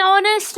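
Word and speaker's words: honest: अ लग गया एन ऑनेस्ट मैन दिखने में एच कॉन्सोनेंट है बट एक्चुअली आवाज अगर हम देखें एच साइलेंट हो जाता है ओ साउंड आ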